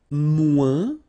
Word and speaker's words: moins: And then, moins. Same thing here. Remember, we don't pronounce the final S.